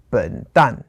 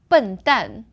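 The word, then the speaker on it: 笨蛋: For example, like an idiot or a fool would be 笨蛋. Oh, okay. 笨蛋. So 笨 is fourth tone. And then 蛋 is also fourth tone.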